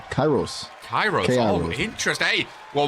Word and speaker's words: Kairos: Kairos? How do you pronounce it again? It's Kairos.